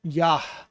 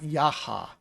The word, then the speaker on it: Yah: It's a hey with more emphasis on pronunciation. So it's yah, yah, yah, almost like yaha, yah. It's the extra flow of the air after you pronounce the hey.